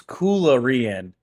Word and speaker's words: Coolarian: It's Coolarian. Coolarian. Cuh. I guess I'm saying that with like pronouncing the U as an A. Coolarian. Gotcha. Coolarian. I'll try to remember that. Hard C, yeah.